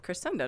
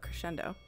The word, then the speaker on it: Crescendo: And you pronounce it Crescendo, not Crescendo. Usually I'm one of the few that pronounces it like that.